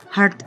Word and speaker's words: heart: Heart itu adalah jantung. Nah, cara menyebutkannya itu bukan heart. Banyak yang suka tertukar antara heart dan hurt. Nah, ini dibacanya A ya. EA-nya itu dibaca kayak A.